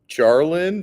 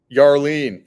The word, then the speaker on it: Yarlene: Jarlin, did I pronounce that correctly? Yarlene.